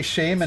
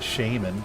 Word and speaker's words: shaman: but they don't say Shaman and wow like the people in wow don't say like th doesn't call himself a shaman hold on American pronunciation Shaman British Shaman Shaman Shaman what I feel